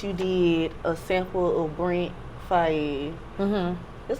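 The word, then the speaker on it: Brent Faiyaz: Speaking of TZ, like, so with Jackin' for Beats, you did a sample of Brent Fayez.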